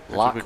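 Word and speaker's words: Locke: o c k e lock with a e pronounced lock not l a local thespian and uh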